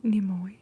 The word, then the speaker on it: Nimoy: He was narrated by Leonard Nimoy.